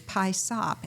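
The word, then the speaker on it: PYSOP: And it's spelled P-Y-S-O-P. AI gets it wrong every time. But P-Y-S-O-P is pie sop, and it is an acronym for Put Your Stuff on Paper.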